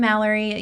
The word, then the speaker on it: Malorie: I'm Malorie. You can connect with me on Instagram with Malorie like Calorie. That is Malorie spelled like calorie.